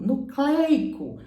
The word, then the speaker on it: nucleico: então era para ser pronunciado corretamente ácido nucleico nucleico como proteico também essas duas palavras têm ei ei ei são ditongos abertos agora sem o acento